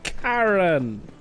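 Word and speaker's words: Charon: We'll go and speak to Karen. Karen spelled like Karon though as in the uh the Greek underworld boatman.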